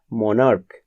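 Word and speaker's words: monarch: যদি দেখা যায় সিএইচ এর উচ্চারণ চ না হয়ে ক হয়, তবে কিন্তু তারপরে শুধুমাত্র এস যোগ হবে। যেমন ধরো মনার্ক, মনার্কের সঙ্গে শুধুমাত্র একটা এস যোগ হবে।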